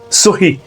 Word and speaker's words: সহি: আঙ্গুলের ডগা আরবি ভাষায় সই এর সঙ্গে স্বাক্ষরের বিন্দুমাত্র সম্পর্ক নেই আরবিতে শব্দটার উচ্চারণ সুই নয় সহি যার অর্থ হলো সঠিক